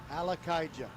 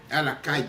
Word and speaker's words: Alakaija: And he was asking me last week, how do you pronounce that name? And I said, Alakaija. Alakaija.